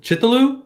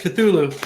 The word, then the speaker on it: Cthulhu: Chaloo. Chulu. Chu. Cthulu. Yes. Cthulhu. Now that's the one.